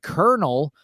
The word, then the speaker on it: colonel: pronunciation but in English the original pronunciation was kept with the r sound the word Colonel is pronounced in the